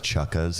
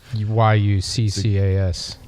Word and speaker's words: Yuccas: If you guys want to check it out, it's Chucka's. It's in Los Angeles, in Hillhurst. YUCCAS. Or Yucca's, not Chucka's.